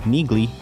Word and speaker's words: Neagley: in the comment section neely is not introduced in the novels until the sixth book without fail but hold on is it nili or niggly on some audio books it is pronounced as niggly which surprised most readers